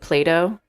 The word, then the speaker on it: Plato: before you started talking play to with a T it's spelled that way not with a d to imply that it is do that one plays with but I definitely pronounce it Plato and I think most